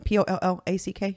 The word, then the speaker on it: Pollack: Hunter Pollack, I don't know how you pronounce his last name. Pollack.